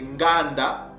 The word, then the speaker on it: nganda: Donc, maintenant que vous avez la bonne prononciation de ce mot-là, mes frères et sœurs, que ce mot-là ne se prononce pas gan, mais c'est nganda, ok?